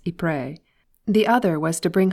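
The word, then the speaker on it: Ypres: i'm going to pray the tommies call it wipers before i went abroad i had two ambitions among others one was to be able to pronounce e-pre the other was to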